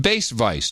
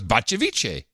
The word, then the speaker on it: Bacevice: I'd prefer the title Sir Bass Vice, pronounced Bass Vice. 2 syllables, very simple. And I agree it's confusing because it's spelled Bacevice, which I think I said was Bacevice.